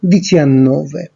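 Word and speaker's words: diciannove: আপনারা দেখতে পাচ্ছেন 17-এর ক্ষেত্রে উচ্চারণটা হচ্ছে দিচিয়াসেত্তে, 18-এর ক্ষেত্রে দিচিঅত্তো এবং 19-এর ক্ষেত্রে দিচিয়ান্নোভে, আর 20-র ক্ষেত্রে এই উচ্চারণটা হয়ে যাবে ভেন্তি।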